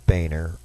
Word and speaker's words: Boehner: uh replace Speaker John boner I know he pronounces it Boehner I speak German John your last name is pronounced Boer but uh to replace uh